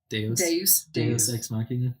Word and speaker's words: Deus ex machina: How do you pronounce that word again? Deus. Deus ex machina.